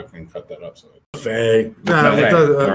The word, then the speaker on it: Maffei: You got to say it right for me now, though, man. It's Maffei.